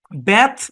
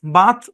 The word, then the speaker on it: bath: তারপর দেখেন BATH উচ্চারণ কি, ব্যাথ বাথ দুটাই হয়।